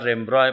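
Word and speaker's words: Rembrandt: नावाचा दुसरा कलाकार आहे रेम्ब्रॉ उच्चार रेम्ब्रॉय पण स्पेलिंग होताना आर इ एन बी आर एन डी टी होते बी आर एन डी टी म्हणून ब्रँड नाहीये ते वैयक्तिक मला इंटरेस्ट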